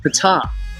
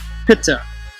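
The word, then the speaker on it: Ptah: ancient hieroglyphic depictions of the deity called pita or top if you use the silent p pitta which was phonetically pronounced and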